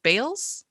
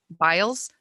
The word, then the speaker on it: Biles: the olympics and uh simone bales that how you pronounce her name and i said what else i think biles mobiles and i said